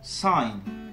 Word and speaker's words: sign: Le I se prononce I lorsque suivi de ND ou de GN en fin de mot, et le cas échéant, le G disparaît. On y retrouve par exemple les mots fine, align, resign ou encore sign.